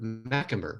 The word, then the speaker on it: Macumber: the monstrous in revelation by my guest heather mcemer right i got that i got there you go got the pronunciation right well heather thank you so much